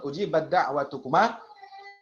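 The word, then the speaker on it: أُجِيبَتْ دَعْوَتُكُمَا: Jadi pengucapannya pada lafaz ujibat da'watukuma tidak perlu nakis lagi. Jadi nggak usah nyisain taknya. Jadi kamil instruksinya di Maisra. Ujibat da'watukuma. Ujibat da'watukuma. Ya. Bersiap ke dalnya saja.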